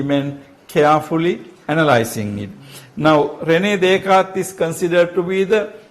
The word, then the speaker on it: René Descartes: René Descartes, this word is René Descartes, it's a French word, so this is silent there. René Descartes was a rationalist in somewhat different sense.